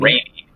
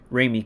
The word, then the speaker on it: Raimi: Okay, so how you pronounce his name? Raimi or Raimi? I can't remember. Like Raimi. Raimi.